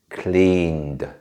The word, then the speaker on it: cleaned: a slightly different pronunciation in this case like a duh sound this is because after